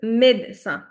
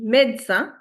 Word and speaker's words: médecin: So, for example, doctor in French is Now, the pronunciations I've written this time in the brackets itself. The doctor in French is médecin. Everyone repeat with me. Médecin.